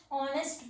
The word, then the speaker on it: honest: My father is dash honest person. Honest person. Here the starting letter H is silent.